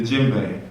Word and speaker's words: djembe: the djembe, and the D is silent. The djembe.